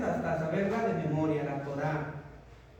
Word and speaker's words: Torá: saberla de memoria la torá con acento en la a si le ponen tora va a decir y luego la alacan